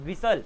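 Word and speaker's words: whistle: लिसन ठीक है ना आप विस्टल नहीं बोलते आप बोलते हो विसल क्रिस्मस तो यहां पर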